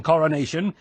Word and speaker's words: coronation: Suffolk, there are 4 syllables in coronation.